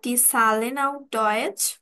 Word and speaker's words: Zahlen: hello সুজামিন welcome online ডয়েজ course সালেন তাহলে আজকে আমরা জার্মান নুমারটা শিখবো আচ্ছা নুমারটাকে